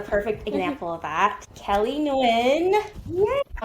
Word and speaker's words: Nguyen: So I pronounce it W.